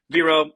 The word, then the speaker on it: Wiro: Yeah, my name is pronounced Viro, but it's spelled with a W.